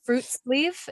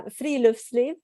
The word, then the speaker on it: friluftsliv: The word that it's fruit sleeve. Is that how you say it? Yeah, that's pretty close. Okay. And don't worry, you're in good company. Everybody worries about butchering this word. Uh-huh. But yeah, friluftsliv.